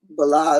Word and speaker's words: Belial: Okay, and to us a destruction of Belial. Or how do you say that? Belial. It's just like Bel.